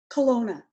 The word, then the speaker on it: Kelowna: Kelowna. Kelowna. I definitely would have butchered that, so thank you for the help.